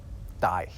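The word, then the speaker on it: dæg: It has a G at the end, although it was actually pronounced more like a Y. It was something like die.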